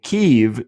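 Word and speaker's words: Kyiv: Kiev derived from the Russian language and Keev derived from the Ukrainian language.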